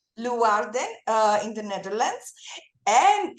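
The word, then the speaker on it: Leeuwarden: arts festival in uh Leen in the ne yeah how do you say it it's Len Warden uh in the Netherlands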